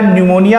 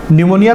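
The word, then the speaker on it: pneumonia: न्यूमोनिया, ठीक है ना, पी से शुरू होता है, ठीक है ना, घबराइएगा मत, पी साइलेंट है।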